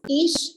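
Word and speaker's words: איש: Pronounced ish, which means a man.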